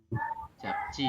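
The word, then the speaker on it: 잡지: Jab sang jiet Jab dibaca ceti. japci, betul ya. Dibacanya Ci.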